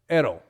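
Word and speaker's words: αἴρω: take up and again that i should be pronounced almost like e and get or e in egg so ero is our take-up hodos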